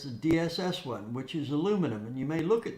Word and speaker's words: aluminum: And that aluminum, and that's the correct pronunciation for all you people in England, aluminum, not aluminium.